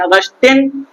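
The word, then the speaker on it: Augustin: Charles C एच ए आर एल S Charles अगस्टिन अगस्टिन की spelling थोड़ा ए यू जी यू एस ए यू जी यू एस टी एन ऑगस्टिन डी सी ओ यू एल ओ एम B coulomb ने दिया था।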